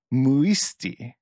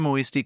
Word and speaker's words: muisti: Let's go muisti.